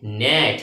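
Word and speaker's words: gnat: প্রথমে দিয়েছি নেট। প্রথমে কি দিয়েছি? নেট। জি এন এটি নেট। জির উচ্চারণ হবে না।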